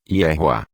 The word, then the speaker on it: Yehoá: Para chegarmos à pronúncia completa do nome do Criador, basta pegarmos a pronúncia do tetragrama no nome de Josué e acrescentarmos a pronúncia do último rei com som de A. Teremos então a pronúncia completa como Yehoá.